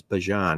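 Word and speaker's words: Bijan: I guess that's how everybody says it's supposed to be pronounced, guys. Bjon.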